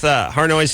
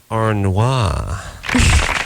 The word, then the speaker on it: Harnois: I was calling her Harnois, which is much more attractive sounding than Harnois. That's the way it looks when you look at it. But this is the French pronunciation? Yeah, that's the French pronunciation.